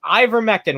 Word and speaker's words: ivermectin: that administer what's this ivermectin that's how it's pronounced ivermectin which if you guys